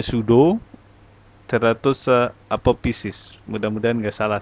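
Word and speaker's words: pseudo: lancar Sud apopisis iya Angel bacane sudo pesudo dibacanya sudo 100 apopisis mudah-mudahan enggak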